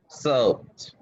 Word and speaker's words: soaped: A lot of people get that one wrong because it seems like it would be two, but that stays one sometimes, huh?